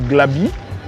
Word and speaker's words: Glabi: Aujourd'hui, on m'appelle Glabi, parce que Gla, dans mon ethnie, ça veut dire courage, Bi, ça veut dire fils.